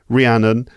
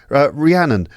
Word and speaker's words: Rhiannon: gosh yeah hello ranan ranan or Ranon what's the right way to say your name it depends if you are my mother and angry then it's Ranon but if you're if you're just neutral then it's Ranon oh your mother says Ranon